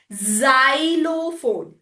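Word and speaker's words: xylophone: It is at the beginning with the E. It is making Z sound. Soft sound. Zerox. Zerox. Xyophone. Z sound.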